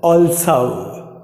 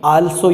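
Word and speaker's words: also: एच ओ एम ई हाउ ए एन एस ओ ऑल्सो ऑल्सो ओ ऑल्सो न कि आल्सो या इस प्रकार से नहीं होता।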